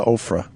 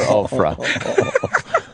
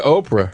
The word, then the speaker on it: Oprah: He went with us to Ofra Well for Winfrey well, that's a funny pronunciation of Oprah yes. Yes Okay People used to actually call her Oprah Let me say I didn't go at